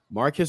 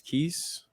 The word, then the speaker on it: Marquise: Marquise or Marquise Lightfoot, depending on how you want to pronounce it. I believe it's Keys Lightfoot.